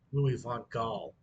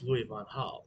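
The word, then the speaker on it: Louis van Gaal: van Hall was at uh Manchester United hit Louis Von Gall that's Louis Von Hull but hey it is what it is and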